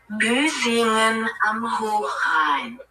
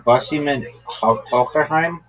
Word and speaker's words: Büsingen am Hochrhein: Büsingen am Hochrhein. Is it Chinese? No. Japanese? In Europe. Oh. Are you saying Bussingen Hockerheim?